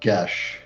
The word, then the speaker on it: geas: If you really, it's pronounced Gesh. Gesh. I am Southern. Hear me be. Gesh. Is it Geas is Gesh? Gesh. It was today I learned. I thought it was geese.